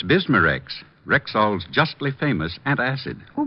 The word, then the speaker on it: Bismarex: B I S M A R E X.